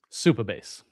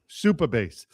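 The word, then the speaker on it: Supabase: How should I pronounce it? Superbase. Superbase.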